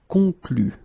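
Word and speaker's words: concluent: Concluez, and then here, conclu. Okay, keep in mind that even if you put this final ENT, so the ending, you don't pronounce it. So phonetically you get conclu.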